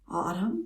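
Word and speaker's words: Audm: or the season but it's a u d m autumn and it's an app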